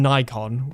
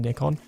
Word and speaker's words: Nikon: get some people saying Nikon which sounds very American and some people saying nickon so I think it's a it's an you know American versus British pronunciation thing so no more tractor